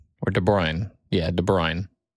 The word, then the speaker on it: De Bruyne: Next one I have is Kevin De Bruyne or De Bruyne. Yeah, De Bruyne. Spell it.